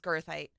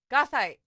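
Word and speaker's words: goethite: That's how my professors used to pronounce it, was girthite. Gothite. So it's not girthite. It's gothite.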